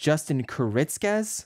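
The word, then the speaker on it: Kuritzkes: It's written by, I think it's pronounced Justin Kuritzkez.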